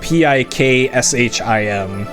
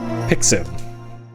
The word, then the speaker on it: Pixim: so right here, Pixim, so not Pikshim, and I think there's a third way that they spell it at some point too, but Pixim.